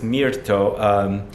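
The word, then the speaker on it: mirto: if you don't know Myrtle flower in Italian it's Mir to toe so there's also a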